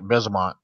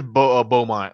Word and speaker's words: Beaumont: I pronounced it right. Besumont. Oh no, it is Beaumont. She misspelled Beaumont.